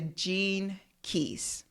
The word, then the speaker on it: Gene Keys: say it interesting but it's Gene like the genes uh in our body meaning g e n e and then key like a key k e y s g